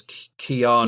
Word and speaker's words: Keanu: It's funny, most of my life I called him Keanu Reeves, and then in England everybody took the piss out of me. Yeah, because it is Keanu.